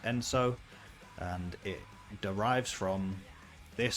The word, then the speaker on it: ENSO: logo and band name so that's enso it's pronounced enso and it derives from this specific design right